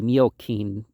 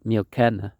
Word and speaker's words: Miocene: Now, one would think that would be Miocene or Miocene, but we pronounce it scene, so we don't use the Latin pronunciation where the C's are always the K sound.